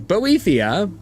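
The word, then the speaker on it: Boethiah: How to pronounce pronounce? Bo uh okay I am saying it correctly. Botheia the patron of plots murder and treachery sounds kind of like his thing.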